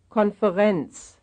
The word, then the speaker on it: Konferenz: Konferenz. Konferenz. Konferenz, that's the third syllable.